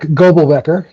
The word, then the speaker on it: Goebelbecker: And notice I didn't say your last name because I probably butchered it, so I'm going to let you say it first. Goebelbecker.